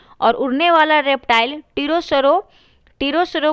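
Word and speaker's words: pterosaur: टीरोसरो को इसमें हम लोग ऐसे लिखते हैं, इसका लिखते हैं P से लिखते हैं, PTERO SAWS। इसमें S जो होता है वो साइलेंट, T जो होता है वो साइलेंट होता है।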